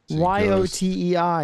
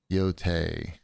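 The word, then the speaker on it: Yōtei: Ghost of Yotai? Yotei? I don't want to pronounce it. Jerry. Y-O-T-E-I. You tell me. How is that pronounced? Yotei. Yotei. Yotei!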